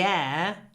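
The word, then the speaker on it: heir: phrase she is the air to his fortune still doesn't work and that's because and are pronounced in exactly the same way a uh and voice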